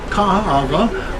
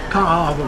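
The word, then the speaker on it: Kaaawa: a a a w so remember A's have a a sound you've got three A's so you to pronounce it three times and again the W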